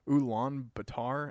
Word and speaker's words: Ulaanbaatar: the only golf course in a place called Ulaanbaatar, and I'm sure I'm butchering that name.